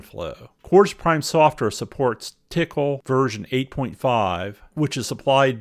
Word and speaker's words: TCL: or scripting common tasks tcl pronounced tickle stands for tool command language and it's the industry standard scripting language tickle supports control structures variables network socket access and apis by combining tickle commands and quartus prime